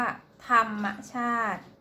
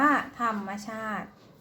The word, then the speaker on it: ธรรมชาติ: หาร ตอน นี้ นะ คะ ออก เสียง ว่า ธรรมชาติ สี ธรรมชาติ อ่าน ว่า ธรรมชาติ เอ่อ ออก เสียง ไม่ หัน อากาศ เสียง สระ